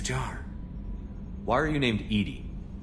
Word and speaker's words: EDI: airlock is a jar why are you named Edie Edie is the phonetic pronunciation of e di that is an acronym